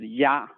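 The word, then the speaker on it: 鸭: So, and the whole word, the pronunciation is ya, so it's very similar to the ya.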